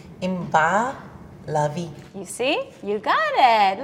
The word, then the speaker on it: Inbar Lavi: and I love it the way you would really pronounce my name is you don't even want to go there wait yes okay you're ready yes in Bao lovey in bah lovey you see you got